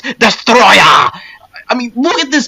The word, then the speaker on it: Destoroyah: Now, you may want to pronounce this guy's name as Destoroyah, but it's actually pronounced Destoroyah!